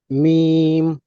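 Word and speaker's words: ميم: মিম। হ্যাঁ, মিম কত আলিফ টেনে পড়তে হবে? 4 আলিফ। মিম 4 আলিফ টেনে চার পড়তে হবে।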